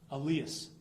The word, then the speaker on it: Elias: And I'm going to work hard to pronounce this correctly because it's Elias. Elias, thank you very much. It's pronounced Elias Wolfert.